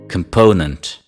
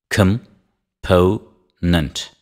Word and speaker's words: component: receives the stress repeat after me complexion complexion component component component take cab just just the second syllable repeat after me component component composition composition